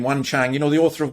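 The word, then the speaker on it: Jung Chang: i kind of know he pronounced her name wan chang you know the author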